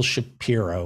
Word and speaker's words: Shapiro: That's where your money goes when you donate to the PBS, paying Neil Shapiro, which rhymes with zero, several zeros a year.